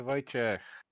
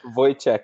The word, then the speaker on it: Wojciech: pretty good yeah so the way i pronounce it it's like boy like boy and check like a money check so just to get a voice check very voice i don't